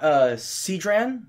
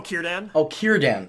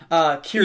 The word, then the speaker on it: Círdan: And what about Cedran? I'm probably saying it wrong. Oh, Círdan. Sorry, Círdan.